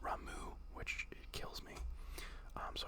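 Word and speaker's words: Ramuh: I think it's actually but I always said Rama when I was a kid like raah Ramen RAM and then uh uhu Rama is what made sense to me but apparently it's pronounced ramu which kills me um so I I had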